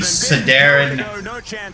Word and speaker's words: Sodaron: any viewership here at the Sedar I think that's how I first pronounced my name not sodon it was actually Sedar but sodon always thought Sedar sounded kind of cooler but soda on sketchier